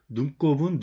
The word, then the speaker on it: 눈곱: 배꼽은 배꼽이 맞고 눈곱은 눈곱이 맞아요. 읽을 때는 우리가 눈곱 이렇게 읽지 않아. 여기 니은 받침이 있으면 강하게 발음이 돼요. 눈곱 이렇게 돼요.